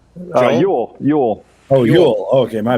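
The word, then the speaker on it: Jól: It's just pronounced Joel, though. Yule.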